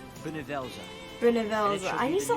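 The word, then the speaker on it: Bhunivelze: It will be called Benevelza. Benevelza. I need to like remember how to pronounce that every time. Benevelza. Benevelza. So it's like bun.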